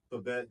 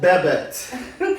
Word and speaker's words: Babette: me what is it it's French it's French so the a is